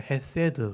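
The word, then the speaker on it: חסד: 발음이 잘 안 돼 우리는 헤세드예요 씨앗 발음이고 디귿 다윗 할 때 디귿 빠르면 이게 애 발음이 애 발음 그러니까 헤세드 이렇게 발음하는 말로 번역 인해 또는 사랑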